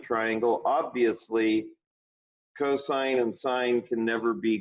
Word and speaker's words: cosine: can come up with cosine of theta all often written cos do not call it cos or cos to me it's a cosine you can use two